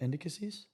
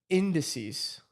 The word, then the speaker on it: indices: that word anymore what indicasies that ain't right why because Matt is gonna roast you rat shout out to you why because that's not how you say it how do you say it indices I'm gonna call it